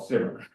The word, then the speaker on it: CIMR: radiometer um which unfortunately people have started to call simmer with a soft C which confuses it with